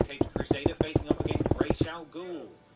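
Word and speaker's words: Ra's al Ghul: Crusader facing up against racial ghoul or razow girl depending on how you want to pronounce it who in a bit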